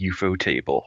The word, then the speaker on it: Ufotable: I looked this up a few days ago, and if you read the katakana, it is indeed UFO table.